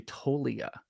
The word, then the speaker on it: Toglia: It's actually Toglia. The G is silent with Michael Toglia.